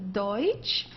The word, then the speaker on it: Deutsch: Deutsch means German. Okay, don't confuse it with Dutch. This is not Dutch, it's Deutsch.